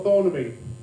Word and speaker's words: Thornaby: See, I always thought I was from the posh end of Thornaby because we pronounce it with a TH.